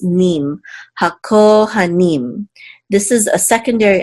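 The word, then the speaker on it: הַכֹּהֲנִים: This shavar right here reduces this patak sound, so you want to make sure to not accent this syllable for sure. So hakohanim, hakohanim, and the ha means the.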